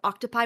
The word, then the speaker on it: octopi: Glamrock 8 alt t has important information to me and it's that according to Latin the word octtopi would be pronounced with an e sound.